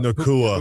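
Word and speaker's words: Puka Nacua: Nakua.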